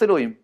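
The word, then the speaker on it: אלהים: les coûts des elohim et celui-là on le prononce elohim donc il ya dans la torah sais pas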